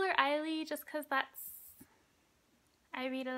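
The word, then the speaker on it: Ailee: Side note, guys, I know most people pronounce it Ailey, even announcers do. That's probably how she pronounces her name. I call her Eileen just because I read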